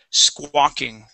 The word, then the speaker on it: squawking: squawking good good and this is a a great example exle of an A W where we just pronounce an A okay the sco that o sound comes from the Q the U right after the Q so one more time squawking